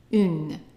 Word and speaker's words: une: So instead of un, we are saying une. Une. Okay, repeat after me. Une. Okay, and notice that the e at the end is silent, so we just pronounce in u and then n, une.